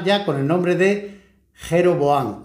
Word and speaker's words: jeroboam: con el nombre de jeroboan o jeroboan porque los pronunciamos la J somos los españoles y los árabes el resto de los idiomas la J la pronuncian ya ye y yyu yero boan eh son eh estos